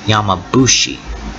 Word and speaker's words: yamabushi: word formed with yama, the F sound is turned into a B sound, thus creating yamabushi, which is written differently.